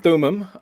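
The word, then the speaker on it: Thummim: was saying telling them can you tell us about the urim and the thumin is that am i pronouncing those two terms right yeah urum and thumim um which apparently joseph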